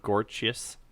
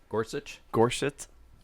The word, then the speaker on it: Gorsuch: How do you pronounce his name? Gorsuch. Gorsuch.